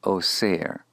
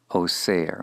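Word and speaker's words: אֹסֵר: Now, if it were an active participle in the call, it would be pronounced oser, oser, one who binds.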